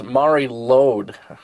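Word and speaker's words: Mari Lwyd: I think that is Mari Lode. Okay, and that Lode, L L-W-I-D. W-I-D, yeah. Lode. And that comes from Wales, and it's the one Bob likes.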